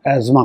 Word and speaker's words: asthma: बोलचाल की भाषा में लोग इसको एस्थमा कहते हैं, एक्चुअली इसको प्रोनाउंस हम लोग एज़मा करते हैं, टी साइलेंट होता है।